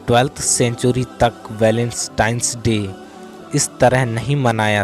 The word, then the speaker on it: Valentine's Day: जब आप वैलेंटाइन डे के नाम पर गौर करें, इसे जो आम कहा जाता है वो है वैलेंटाइन डे, लेकिन हकीकत में जो इसका प्रोनाउंसिएशन है वो है वैलेंटाइंस डे, यानी वैलेंटाइन वाला दिन।